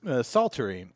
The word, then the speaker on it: psaltery: alter e right III don't pronounce the P on this word is it a silent